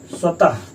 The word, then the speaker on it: स्वतः: ये देखिए स्वतः, इसका भी उच्चारण कीजिए, देखिए स्वतः, लास्ट में हा आया, इसलिए ये देखिए मैंने आपको बता दिया।